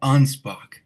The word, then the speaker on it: Anspach: Onspock.